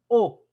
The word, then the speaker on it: au: Vamos a utilizar una nueva palabra que se pronuncia au restaurant.